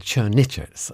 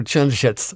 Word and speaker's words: Črnčec: I've got your name wrong. I said Črnčec, and I've been doing that all day. Marko Črnčec, welcome to the show.